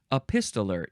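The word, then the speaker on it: epistoler: t o l r now this is different from the epist noun from the word epistle it's spelled a little bit differently but it sounds sort of similar a pistoler is a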